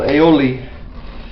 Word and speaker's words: aioli: Provence area is called aioli, and aioli means, well, ale or a mean, it's spelled A-I-L, means garlic, and aioli means and oil.